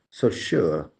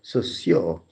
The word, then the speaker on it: Saussure: of the name as so sure but now I realize that there is a better way a more French way of pronouncing the name 49 the S9 the soio the D is silent